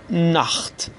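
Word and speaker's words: Nacht: کلمه اول نخت. نخت یعنی شب. خب دقت کنید در این کلمه قبل از تی ها آ اومده، به همین خاطر تی ها رو ما خ تلفظ میکنیم.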